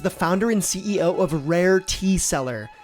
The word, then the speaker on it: Rare Tea Cellar: Roderick Marcus is the founder and CEO of Rare Tea Cellar, which is spelled like wine cellar, not like a salesperson.